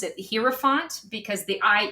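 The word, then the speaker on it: Hierophant: I I always typically pronounce it hi font because the iie e I always think of it like a German word.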